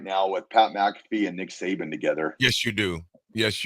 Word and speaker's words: McAfee: M always always screw up his last name mcafe Pat M you said it right yeah me